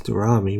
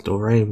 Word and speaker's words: Dorami: The comments on my last video about Alex Dorami, which I incorrectly pronounced as Alex Dorame last week, Sorry, I hadn't heard the pronunciation of her last name prior to making the video.